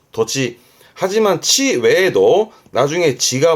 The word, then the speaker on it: 土地: 발음은 토지. 도지.